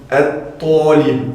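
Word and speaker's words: الطالب: Comme par exemple at-talib, on dit l'étudiant.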